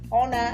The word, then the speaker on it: honor: honor என்ற இடத்துல h வந்து சைலண்ட், o என்ற vowel sound முன்னால and பாவிக்கிறோம், அதோட சச்சுக்கு பின்னால வருது and என்ற vowel sound.